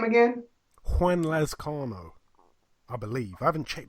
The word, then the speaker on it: Juan Lazcano: His name was Juan Lazcano, like Juan, you know. Oh, Juan Lazcano.